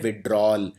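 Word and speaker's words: withdrawal: तो यहां पे याद रखिए इसको लिखते हैं विथड्रॉवल। लेकिन बोलते हैं विथड्रॉल। तो ये वाला जो ए है ये बोलने में आता नहीं है लेकिन ये आएगा। स्पेलिंग के अंदर आएगा।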